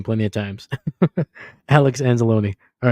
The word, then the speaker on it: Anzalone: el oh my God how can I not pronounce this guy's name hold on hold on I got to anzalone there we go I know I've heard his name plenty of times Alex anzelone all right empty set Gino rolling out to